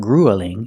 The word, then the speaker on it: grueling: you gonna do that we don't pronounce this word grueling it's not grueling it's grueling grueling the first of all is the long u like food and boot Gru grueling grueling and it means very